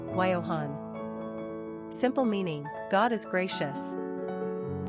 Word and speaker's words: Johann: Choice with European Sensibility we also love the pronunciation yo yo Yohan quick facts on Johann gender boy origin German number of syllables two ranking popularity 942. pronunciation wyohan simple meaning God is